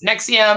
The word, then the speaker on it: NXIVM: out because in here it's spelt nxivm and it's like nx ibm pronounced nexium and i'm like you